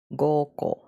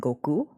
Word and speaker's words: Goko: Oh, hey, how do you say goko? Goko. That's what I imagine. That's how you say it. Goko. And then the way that you wrote it, it sounds like you just keep saying Goku. Like Goku, but like ko.